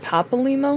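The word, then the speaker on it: Papalymo: Papale limo, compile all the information we have on Titan. Little though it may be. Oh, it's pronounced papal limo.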